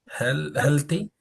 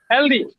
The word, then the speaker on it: healthy: e l t y healthy healthy healthy healthy it is healthy okay not the the health healthy okay healthy do not change it into the okay it is not voiced it is voiceless healthy voiceless what is